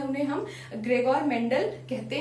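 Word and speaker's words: Gregor Mendel: जो है उन्हें हम ग्रेगोर मेंडल कहते हैं। उनका नाम जो है ग्रेगोर मेंडल है। कोई जेरेजोर मेंडल भी कहता है, कोई ग्रेगोर मेंडल भी कहता है। डजंट हैपन, प्रोनाउंसिएशन अपनी अपनी हो सकती है।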